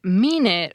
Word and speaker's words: mean it: But I do know the answer to whether mean it rhymes with peanut. The answer is that it depends on the speaker. Some speakers will reduce the final vowel in mean it to a schwa, while others will